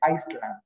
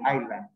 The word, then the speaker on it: island: So that word is kind of difficult to pronounce because some people say Iceland because of the S. But the S is silent. It's a silent S. So you just said island.